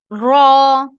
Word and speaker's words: ر: تالو بھی نہیں ہے, بیسکلی جو ہوتا ہے نا, اوپر والے دانت ہیں ان کی گم کے پیچھے لگاتے ہیں. را را را را, اوکے, اس کو پریکٹس کیجیے گا.